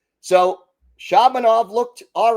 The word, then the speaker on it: Shabanov: I I went with the typical Russian pronunciation which is Shabbanov accent second syllable but he uh apparently told the broadcasters it's Shabanov. So Shabanov looked all right.